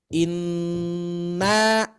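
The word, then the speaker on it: إِنَّ: Inna, ya, atau misalkan di meja inna, 3 ketukan. Inna, inna 3, ya. Jadi jangan inna 2 ketukan saja.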